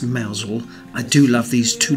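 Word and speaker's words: Mousehole: started now even though the village is pronounced malesle I do love these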